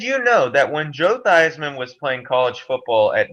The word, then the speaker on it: Theismann: director convinced him to change the pronunciation of his name from these men to what we know today as theisman so it would rhyme with heisman the new mr thiesman